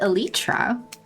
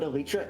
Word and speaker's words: Elytra: I say Elytra just because to me it sounds better, but Elytra is the correct one, and I do accept it as a correct pronunciation.